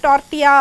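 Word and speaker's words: tortilla: டார்ட்டியாங்கிறது வந்து இது டார்ட்டிலா அப்படின்னு இருக்கும். பட் இது ப்ரொனவுன்ஸ் பண்ணி டார்ட்டியா அப்படின்னு பண்ணணும்.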